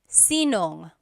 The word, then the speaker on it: sinong: If you have sino ang in a question, you might hear sinong.